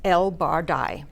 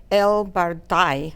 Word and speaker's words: El-Bardai: will tell you that in English we say my name is El barai okay great uh then people here understand it obviously that's Egyptian name in Egyptian something like El bardai which I cannot say actually that's a a popular